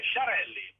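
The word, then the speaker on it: Sciarelli: Federica Schiarelli. Non, c'est Chiarelli. Ah, Chiarelli, SC, ça se prononce che.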